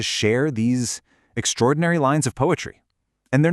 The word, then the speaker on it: PoAItry: You just pronounce it poetry. That's it. The AI is silent, and that's totally on purpose.